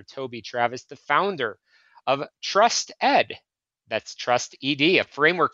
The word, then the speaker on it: Trust ED: Toby Travis, the founder of Trust Ed. That's Trust ED, a framework for school improvement focused on developing trusted leaders, and the author of Trust Ed, the bridge to school improvement.